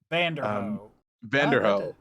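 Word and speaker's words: Vanderohe: it's like um um i can't pronounce it i think his name is it's v-a-n-d-e-r-o-h-e i think it's like vander vanderhoff i mean that's what it sounds like i guess that's what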